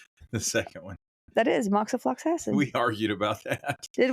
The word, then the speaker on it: moxifloxacin: The 4-month rifampicin moxifloxacin regimen includes The way you pronounced the second one. that is moxifloxacin.